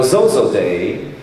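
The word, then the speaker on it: Xoxoday: at Zozo day now Zozo day I learned is the way to pronounce XOXO day do you know what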